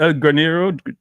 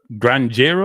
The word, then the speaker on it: granjero: Catch-22 El Granero is Granjero, I should say. I pronounced the Spanish wrong, but makes no sense.